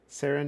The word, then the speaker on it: Seren: Sarin not serene.